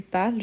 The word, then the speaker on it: parles: Tu parles jamais, on n'oublie jamais le S. De façon que quand on prononce, on dit je parle, tu parles. Mais le E, il est toujours là.